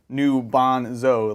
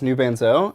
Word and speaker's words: New Bonzo: It's your boy, New Bonzo, pronounced New Bonzo, like Garbanzo. It says all this. by New the way. Banzo. Okay. Because in my head, I always read that as New Banzo, and I Yeah.